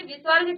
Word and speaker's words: विसर्ग: अब देखिए विसर्ग क्या होता है, इस ध्वनि का उच्चारण ह के समान, आधा ह के समान है, विसर्ग के साथ, यानी कि आधा ह भी कहते हैं इसको।